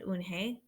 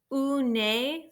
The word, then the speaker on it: Unhei: Eun-hye, said Eun-hye. Nay, the girl asked, scrunching up her face.